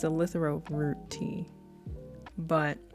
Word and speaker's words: eleuthero: It's called eleuthero tea. It's eleuthero root tea, but it's a good tea.